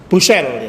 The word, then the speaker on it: Bucaille: Gimana Pak Hamzah membacanya yang betul? Yang betul apa bacanya Pak itu? Bucaille, ya.